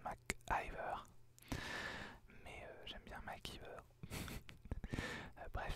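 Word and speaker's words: McIver: Mac qui veut alors il me semble que ça se prononce rose Mac Iver mais j'aime bien maquiller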